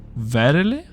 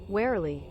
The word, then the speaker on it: warily: has surroundings and advance verily that's how you pronounce it wow really warily well damn but this place